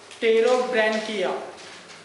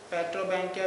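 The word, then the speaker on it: Pterobranchia: Okay, second class है इसके अंदर का, वो है टेरोब्रैंकिया। पी साइलेंट है। पेट्रोब्रैंकिया भी बोलते हैं इसको, लेकिन टेरोब्रैंकिया। Body small and compact body रहती है इनकी।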